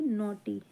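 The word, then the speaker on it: naughty: है नोटी क्या है ये एन ए यू जी एच टी इसे पढ़ेंगे नोटी और इसे पढ़ेंगे स्मॉल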